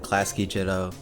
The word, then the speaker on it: Clascy Jitto: Well, I just pronounce it Clascy Jitto.